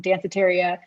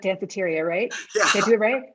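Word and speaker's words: Danceteria: and have read um dancitaria i always have to make sure i pronounce that right cafeteria dantheteria that's how i was saying it at first too but no but but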